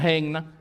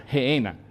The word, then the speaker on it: Gehenna: No se pronuncia Gehenna, sino se pronuncia Gehenna. Pero se escribe con doble N.